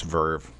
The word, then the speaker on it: VRV: this commentary you gotta email vrv oh it's Verve it's pronounced Verve did you know that it's spelled vrv though